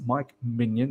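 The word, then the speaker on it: Mike Maignan: Minion uh someone has told me that it's Mike minion that's how you pronounce it as Top Choice for new goalkeeper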